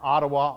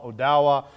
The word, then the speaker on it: Odawa: So sometimes you hear Ottawa, Odawa, different ways of pronouncing the same words.